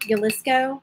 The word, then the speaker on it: Jalisco: do you say it jalisco i think you pronounce the j is a y right me let's go